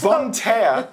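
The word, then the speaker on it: Bonne Terre: campus in turbon Terrace Bon tear which is spelled completely different than you say it but volunteer just on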